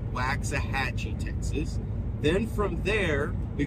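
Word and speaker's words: Waxahachie: to be what is uh uh Dan Austin waxah hatchee that's how it's pronounced waxah hatchee Texas then from there we go to Corsicana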